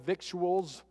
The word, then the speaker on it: victuals: that table full of victuals it's actually vittles if you're from the south I think that's actually the proper pronunciation vittles vittles and all the different